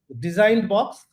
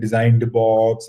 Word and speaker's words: DesignBoxed: So she came up with this name DesignBoxed, and I generally go by his instincts on that.